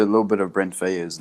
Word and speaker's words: Faiyaz: Is it Faiyaz or Faiyaz or how do you pronounce it? Oh yeah, Faiyaz.